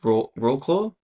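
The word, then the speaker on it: Wrocław: Yeah, that was Rocklaw. I don't know how to pronounce it. The W's are V's, but it doesn't make sense. Yeah. I know what you're trying to say. Anyway. Rocklaw.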